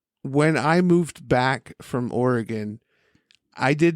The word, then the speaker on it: Oregon: Oregon first of all I'm super proud of you for pronouncing Oregon correctly that was really good I usually have to correct people and I was gearing myself up to say it's Oregon not Oregon oregano yeah when I moved